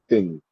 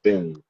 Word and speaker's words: Tinh: So, my last name I pronounce it thing. That's how I pronounce it. And uh yeah, thing, you know, it's a Vietnamese last name.